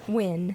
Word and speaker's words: Nguyen: Win. I Win. believe it's pronounced Win.